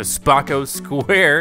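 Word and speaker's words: Spocco Square: the world welcome to spaco square is how you say it compete here in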